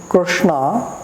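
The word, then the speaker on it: Kṛṣṇa: from there so now when we are pronouncing krsna mostly we pronounce it wrong because we are pronouncing na sound more from the teeth it is actually not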